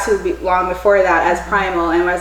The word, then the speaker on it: Prymel: or primo how is this supposed to be pronounced Primal so how did you get to that name